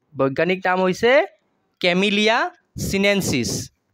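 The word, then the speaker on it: Camellia sinensis: সাহর বৈজ্ঞানিক নাম হইছে কি বৈজ্ঞানিক নাম হইছে ক্যামিলিয়া সিনেন্সিস উচ্চারণ টু টেনে কয় হবো ক্যামিলিয়া সিনেন্সিস হইছে সাহর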